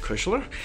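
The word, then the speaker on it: Kuchler: new to the channel my name is kushler i am a pro photographer here in new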